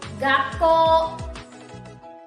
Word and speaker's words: 学校: Remember that small tsu is pronounced as double consonant. So this word will be read as 学校 Okay, correct. Gakko.